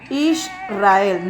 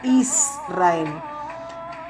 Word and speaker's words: Israel: Así que realmente la verdadera pronunciación es Israel, no Israel.